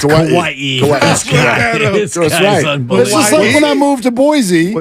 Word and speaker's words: Hawaii: Kauai but now that he's been there it's Hawaii when I moved to Boise and then I